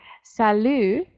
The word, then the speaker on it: salut: as Jessica pointed out salut the silent T on the end there it does just sound